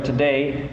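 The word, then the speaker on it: Tadae: Now, today we have with us brother Today, and I didn't say those words back to back on purpose. His name is actually Today, but it's not spelled like T-O-D-A-Y, is it? No, spelled T-A-D-A-E.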